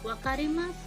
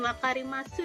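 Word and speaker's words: わかります: Bukan wakarimasu ya ini bacanya. Jadi kalau di Jepang sunya ini nanti dia nggak dibaca wakarimasu gitu, tapi hai wakarimasu, jadi sunya nggak dibaca unya ini.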